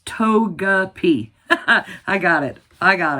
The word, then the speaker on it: Togepi: Togeep. It's Togeapi. I got it. I got it. So, we sold uh the Bazaar and Togepi.